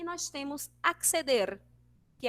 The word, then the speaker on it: acceder: Em espanhol é evidenciado cada letrinha, né? Ó, acceder, acceder. Então, todas as palavras que vierem com R ao final, a gente precisa vibrar a língua para que saia a pronúncia certinha, beleza?